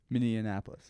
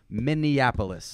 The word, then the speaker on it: Minneapolis: Dan say it again Min Anapolis no it's not Min Anapolis it's Minneapolis that is a small version of the capital of Maryland this is Minneapolis all Min Anapolis if